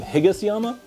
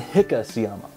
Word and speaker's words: Higasayama: It's been known under the name Higasayama and Hikasayama. Basically, there are two ways of pronouncing the same cultivar.